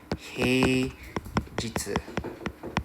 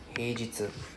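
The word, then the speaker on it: 平日: this ping right hey jer is pronounced as hey jitsu h e i j i ts u hey jitsu then weekend anybody knows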